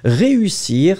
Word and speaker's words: réussir: So clearly, you don't combine the two. You will pronounce ré, and after that, usir. And so really, you make the difference between these two vowels. Ré, usir. Réussir, well, is the proper translation of to succeed.